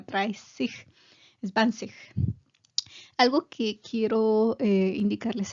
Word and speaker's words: dreißig: S doble, eso es lo que significa, entonces se hace más larga, dreißig, zwanzig.